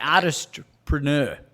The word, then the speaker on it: Artistpreneur: So because you mentioned a word there that I haven't heard before I met you, the artistpreneur. Yeah. Is that how I'm pronouncing it right?